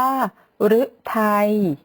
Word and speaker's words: ฤทัย: สุด ท้าย นะ คะ ตัว รึ ที่ เรา ออก เสียง ว่า รึ นะ คะ เช่น คำ ว่า ฤทัย ฤดี ฤดู ก็ จะ สังเกต นะ